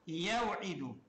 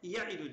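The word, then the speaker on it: يَعِدُ: Yani telaffuzu yevidu telaffuzu zor olur. Ha çünkü ya mütevellid kesreteyni ya iki kesreden meydana gelmiştir. E ya iki kesredir. Ha vavdan sonra bir kesre daha geliyor. Uç kesrenin arasına girmiştir. Telaffuzu dil bakımından zor oluyor. Araplar bunu düşerek telaffuz ediyorlar. Yani yevidu yerine yeidu diyorlar. Ha bir de iddeten de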